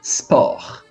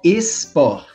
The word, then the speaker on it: sport: les goûts et les sports. Não é esport. Não tem o E aqui, tá? É sport. Assopra, tá? Não é pra dentro. Es, né? É s, que nem a cobrinha. S, sport, ok?